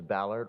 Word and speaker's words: Ballard: all thank you for the French pronunciation of my last name but the American pronunciation is Ballard Ballard this is